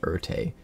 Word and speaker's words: Ertai: at a key moment, Ertai. Back during Tempest, I pronounced it Ertai, but I'm pretty sure it's Ertai.